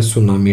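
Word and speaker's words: tsunami: lesson के अंदर है सुनामी, टी इसके अंदर साइलेंट है, सुनामी 40-50 फुट जो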